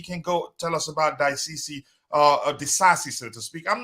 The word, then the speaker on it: Disasi: Then quickly, you can go tell us about Daisisi, Disasi, so to speak. I'm not sure what the correct pronunciation is. But if you're there, you have the floor, Tabejo. Axel Disasi.